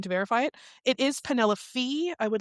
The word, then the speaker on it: Penelope: Last episode, I had mentioned the spelling or the pronunciation of the main character's name, and I was going to verify it. It is Penelope Fee.